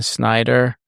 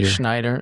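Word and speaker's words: Shnaider: So, a name that uh I've heard you throw around coach a lot is Diane Snider. I say it right. Schneider.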